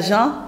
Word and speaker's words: gent: transcrivent pas la jante on dit la gent l'argent l'ENT F donc le le thé est mu en fait on ne le prononce pas le thé ne ne